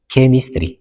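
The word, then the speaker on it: chemistry: ክነስተውዕሎ ይግበአና rule 5 H is silent after C ድሕሪ C H silent ይኸውን ኣብዚ ምስዑ ቃላት ይብለና ኣሎ ንኣብነት ኬሚስትሪ ክንብልና ሃለና ኬሚስትሪ ኣይኮንናን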